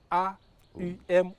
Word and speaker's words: Aum: de la création mais il faut bien le prononcer a U m ou a merci Kenneth